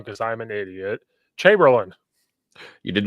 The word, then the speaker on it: Chamberlain: presenter is coach uh I'm gonna say your name wrong because I'm an idiot Chamberlain you did not say it wrong that's correct